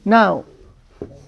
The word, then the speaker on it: know: Now. But they pronounce the same, but they just spell different. Also now in English, right? So you do not pronounce the K here in the beginning.